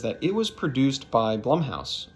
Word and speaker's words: Blumhouse: it was produced by blumhouse or bloomhouse i'm not sure how you say it honestly i've heard people say it either way but to me it is blumhouse so when i saw